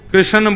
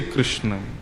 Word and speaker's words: कृष्ण: लाल की जय बंधुओ कई लोग इस नाम को अशुद्ध बोलते हैं कई लोग कृष्ण बोलते हैं कई लोग कृष्ण बोलते हैं कोई कृष्णा बोलता है भगवान का नाम शुद्ध उच्चारण करो नाम क्या है कृष्ण भगवान जय श्री